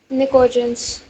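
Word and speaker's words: pnictogen: को क्या कहते हैं निकोजन निकोजन में प क्या होता है साइलेंट तो निकोजन फैमिली इसके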